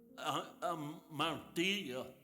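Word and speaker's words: ἁμαρτία: Pero en el griego hay una palabra que se pronuncia amartía y significa pecado.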